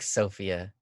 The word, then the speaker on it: Sophia: You like Sophia with the emphasis on the Sophia. first syllable.